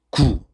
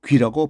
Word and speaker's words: 龜: 거북이, 거북이를 구 또는 귀라고 발음을 합니다.